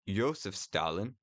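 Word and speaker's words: Иосиф Сталин: If you use the Russian pronounce or not if you pronounce it like Ysef Stalin like my co-host just did uh that is more accurate to the Russian pronunciation and you would call it an IS-2.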